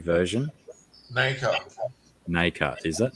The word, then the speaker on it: nacre: How do you say the NACRE version? Nacre, is it?